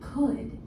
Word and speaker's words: could: Could has 3 sounds. K, d. The first sound, k, is spelled with the letter C. The last sound, d, is spelled with the letter D. We can read these parts using our phonics knowledge. The middle sound, is spelled with the letters O-U-L.